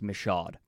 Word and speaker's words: Michaud: this is from Mike Michaud that's how it is pronounced by the way I had to learn it after the fact but it's pronounced Michaud but I'm convinced that